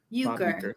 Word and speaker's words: Uecker: Euchre.